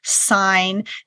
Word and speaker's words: sign: we retained that spelling, like you have sign, S-I-G-N, and that's related to signature. You hear the G there.